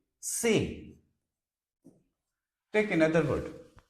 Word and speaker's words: C: will be ay like in English we pronounce it like C but in French we say say take another word like